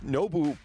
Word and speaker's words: Nobu: And it's so hard because it's Nobu, but like the oo is like an O and a U together.